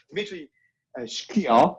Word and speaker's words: Dmitry Shklyar: Today I'm with Dmitry Shklyar. Do I pronounce well?